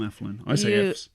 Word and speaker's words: Athlone: people to stay because we have problems pronouncing th's I can't say my th is over I'm from affluent is a flow of